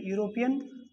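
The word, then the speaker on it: European: है आर्टिकल का, तो इसको यूरोपियन एक बार लिख के भी देखेंगे प्रोनाउंसिएशन में, यूरोपियन बॉय, तो यहाँ ये आ रहा है, फिर हमें इसके अंदर आना होगा, और इस तरह से ये एन गलत हुआ और ए इसका सही हुआ, ये सही है हम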